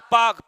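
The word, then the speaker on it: Palk: पाक जलसंधि कौन सी पार्क पी एल के एंड साइलेंट रहेगा पार्क जलसंधि भारत और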